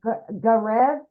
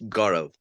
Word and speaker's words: Gaurav: We got, is it Garev? Yeah, hi. Hello. How do you say your name, my friend? It's Gaurav. Gaurav. Ooh, beautiful. Yeah, I'm Indian, so it's an Indian name.